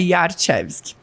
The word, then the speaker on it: Jarczewski: Jarczewski, Começa com J e tem umas várias... Isso, a história aqui é polonês, então em polonês o J tem som de Y, então é Jarczewski.